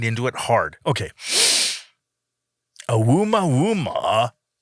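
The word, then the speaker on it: ʻOumuamua: Oumuamua. Oumuamua. Here it is. I'm going to spell it out so you can try it at home or in the car, wherever you are.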